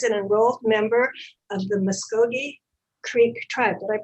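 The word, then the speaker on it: Muscogee: Shanti is an enrolled member of the Muskogee Creek tribe. Did I pronounce it correctly?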